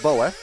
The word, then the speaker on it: Bo: First of all, the name is pronounced Boa, and he owns a Moto 3 racing team in MotoGP.